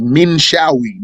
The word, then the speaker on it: Minshawi: It's Minshawi.